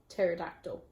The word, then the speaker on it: pterodactyl: how do you spell pterodactyl starts off with that misleading silent P closely followed by a T well as long as